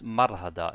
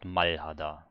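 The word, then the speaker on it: 말하다: it or is it because i think for to speak is marhada and not malhada so there it's more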